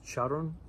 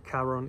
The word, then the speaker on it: Charon: I heard it pronounced Charon by somebody, but I think it's Charon is a little closer to the Greek original pronunciation.